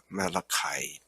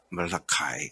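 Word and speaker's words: Malachi: 말이 아니고 이름이 말라입니다 말라카이 미국식 발음으로 말라카이 그렇죠 이것은 아마 주전 430년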